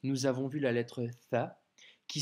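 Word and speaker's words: ثاء: Aujourd'hui, nous avons vu la lettre Tha, qui s'écrit avec 3 points et qui se prononce th, comme le mot think en anglais.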